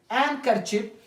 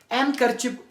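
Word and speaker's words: handkerchief: से डी यहां पे एंकर चिप एनक चिप एनक चिप हम उसे कहते हैं जो रुमाल वी यूज it specially in the cool weather रुमाल जो हम लोग कहते हैं उसे एन कचप कहा जाता है एन कचप तो फिर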